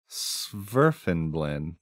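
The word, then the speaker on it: svirfneblin: b l i n sfin blend I feel like you either don't pronounce the N or the F like some what of these letters has to be a silent letter s I'm going to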